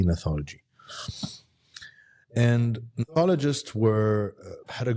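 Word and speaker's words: gnathology: neology with a g g is silent G neology and neologist were had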